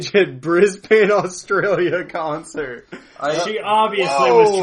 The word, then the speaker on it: Brisbane: someone commented and said it's pronounced Brisbane.